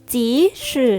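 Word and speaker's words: 即使: คือ ข้อ ดี ดอก อ่าน ว่า จี๊ด ชื่อ เย้ จี๊ ชื่อ นะ คะ มี ความ หมาย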